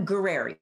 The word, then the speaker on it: Gurreri: and it's pra gueri and you just can't be afraid of the RS because it's very Italian gueri gerer gerer gerer